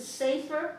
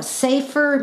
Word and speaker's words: sefer: Now, when you say, is it safer? Safer. S-A-V-E? No, it's in our English, they actually spell it S-E-F-E-R.